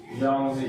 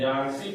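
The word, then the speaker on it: Yangtze: यहाँ की highest river यांगजी है। इसे आसानी के लिए हम लोग यांगसी पढ़ते हैं, लेकिन ये यांगसी सही उच्चारण नहीं है, लेकिन मान लीजिए यांगसी,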